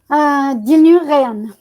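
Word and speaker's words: Dilnur Reyhan: Juste pour que je puisse bien m'imprégner et ne pas faire d'entorse, votre nom et votre prénom se prononcent comment? Dilnuréan.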